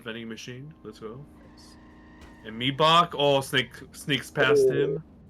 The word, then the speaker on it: Mibach: Me buck is the correct pronunciation. Me buck.